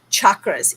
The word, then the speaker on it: chakras: Chakras. Yes. So chakras are very much pronounced like chocolate. I know. And I would love some chocolate, but we are talking about chakras. And that is the Indian pronunciation.